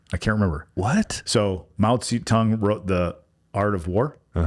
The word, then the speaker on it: Mao Zedong: So Mao Zedong wrote The Art of War.